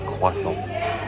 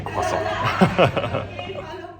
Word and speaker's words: croissant: As a good Frenchman, I had to have some croissant. I'm even saying it in English and not in my French accent because otherwise that would be croissant. Yes, that's the correct way to say croissant.